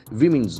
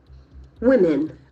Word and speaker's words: women: Okay, see, now I must address The word WOMEN, most of us make it in a very wrong way. It's women, women. Okay, so you can see the two vowel letters are O and E, but they have the same sound, E sound.